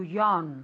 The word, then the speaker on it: yawn: To yawn. Very good pronunciation. To yawn. To yawn. Aunque se escribe con una A, se pronuncia realmente como si fuera una O. Y una O larga.